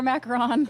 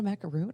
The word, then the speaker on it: macaron: Order your macaron.